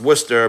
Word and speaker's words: Worcester: So wor it's Worcester pronounced Worcester but spelled like Warcester.